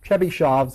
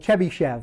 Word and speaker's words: Chebyshev: markov's inequality uh the next one is called chebyshev's inequality this is the most famous of these